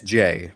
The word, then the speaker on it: Jae: I haven't yet figured out how he pronounces that name. I believe it's Jay.